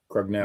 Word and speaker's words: Crugnale: But anyway, for Bank Street Armory, Jose Estrada beat Joe Krenagel. Now he was a Massachusetts guy. I remember that. Or Crugnale, however you pronounce it. It was Crugnale, I think, right? Yeah, Crugnale.